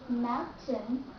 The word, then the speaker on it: mountain: here instead of saying Mountain then we say mountain mountain you have to drop out the letter T drop out letter T here we go and